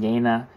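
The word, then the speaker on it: Jena: from hegel's y period if you don't know when I'm saying Yana it's spelled Jenna uh but the ye the Y is like a y sound in oh German so it's Hegel y period clearly shows hegel's intense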